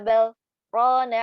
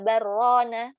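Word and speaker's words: بَلْ رَانَ: Kita malah nggak boleh bacanya kalla barrona atau kalla balrona disatuin, nggak boleh.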